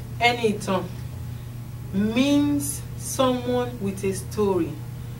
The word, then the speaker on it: Enitan: the name anything means someone with a story it is written as e n i t a n but pronounced as anything like a n y t o n the